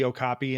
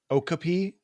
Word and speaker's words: okapi: other things but like when they called the okopy and a an okapi consistently for like two straight minutes you're like get the Okapi the Okapi the it's